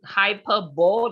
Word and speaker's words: hyperbole: through this slide finish this line l-i-a-i-s-e is pronounced as the lias not lias lias okay um hyperbole luckily the person corrected himself is hyperbole table